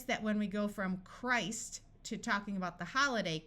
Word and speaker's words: Christ: This I will have its long sound. Christ. Notice that when we go from Christ to talking about the holiday, Christmas, the T sound disappears and the I becomes short.